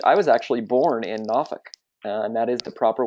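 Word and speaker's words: Norfolk: from Virginia Beach I was actually born in NK and that is the proper way to set pronounce it my father was um in the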